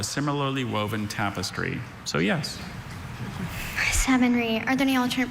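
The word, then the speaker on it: savonnerie: Savonry. Are there any alternate pronunciations?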